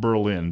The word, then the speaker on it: Berlin: a little town called Berlin Maryland it's actually pronounced Berlin because it was named after a guy named Burl who opens an in